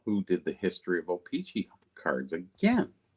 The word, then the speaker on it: O-Pee-Chee: O-Pee-Chee.